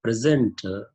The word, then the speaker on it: present: used as a present the word present is used in the noun form and in the verb form if it is used in the known form the stress is on p if it is used in the verb form the stress is on s for example see the